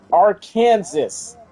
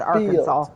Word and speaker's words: Arkansas: And it's like, "No, it's not pronounced how it looks." Call it Arkansas.